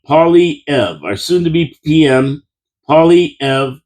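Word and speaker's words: Poilievre: Oh, try this for pronunciation from Penny Brookifi. Paulie Ev. Say it out loud. Pauly Ev, our soon tobe PM Pauly Ev.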